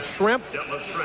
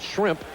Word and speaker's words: Schrempf: So we have Schrempf. If you mispronounce it a little bit and call it shrimp, and Bird, we kind of a fish and fowl.